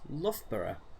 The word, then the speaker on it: Loughborough: did say to tom like oh yeah it's pronounced loughborough and he's like none of that looks like